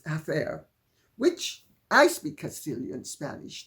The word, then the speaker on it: hacer: And you can tell it because of the way she sometimes pronounces the C as TH instead of as. So instead of saying, for instance, hacer, she says hacer, which I speak Castilian